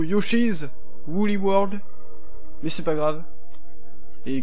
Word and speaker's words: Yoshi's Woolly World: un direct live de Yoshi Woolly World, qui se prononce plutôt Yoshi's Woolly World, mais c'est pas grave.